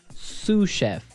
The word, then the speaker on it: sous: our second word susha suf suf suf s o u s so the S is silent because it's like a French word yeah something like that